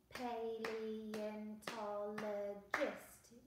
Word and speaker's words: paleontologist: It's got six syllables, so we need to do six claps when we say it. Paleontologist, your turn.